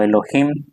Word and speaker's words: Elohim: Después hay otro nombre de Dios, hermanos, que es Elohim o Elohim, como pronuncian algunos, también es hebreo y también significa Dios.